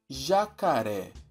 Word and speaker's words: jacaré: Ré, cá, já. Jacaré. Vimos que a tônica é a última sílaba.